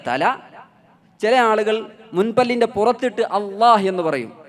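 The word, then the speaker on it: الله: പുറത്തിട്ട് അള്ളാ എന്ന് പറയും ചില ആളുകൾ മുൻപല്ലിന്റെ ഉള്ളിൽ തട്ടിച്ചു പറയും ചില ആളുകൾ മുൻപല്ലിൽ തട്ടാതെ ലാം പറയുന്ന സ്ഥലത്ത് വെച്ച് പറയും ഇതിൽ ശരിയായ ഉച്ചാരണം ലാം പറയുന്ന ഇല്ല പറയുന്ന അതേ സ്ഥലത്ത് വെച്ചാണ് അള്ളാഹു പറയേണ്ടത് നാവിൻറെ തലയുടെ ഒരു മേലെ മുൻപല്ലിന്റെ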